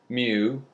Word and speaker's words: mu: we often use the Greek letter mu pronounced pronounced within him and the word u mu okay and it's drawn like a letter U